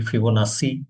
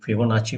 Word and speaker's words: Fibonacci: इसको कोई कोई फिबोनाची प्रोनाउंस करते हैं, कोई फिबोनाची प्रोनाउंस करते हैं।